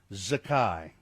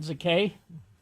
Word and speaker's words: Zakai: Zakai. Za. K AI. Not Zakay.